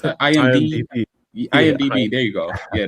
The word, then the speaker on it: IMDb: How you fucking pronounce that? IMDb.